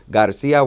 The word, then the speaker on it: García: Jesús with an accent on the U, Garcia with an accent on the I, so that you all get custom, like Fariña kind of thing.